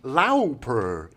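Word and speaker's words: Lauper: between Madonna and Cindy laer uh yes that's how you pronounce it if you watch uh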